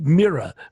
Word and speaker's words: Mira: us so mira and you told me to pronounce it like mira mira tell us a little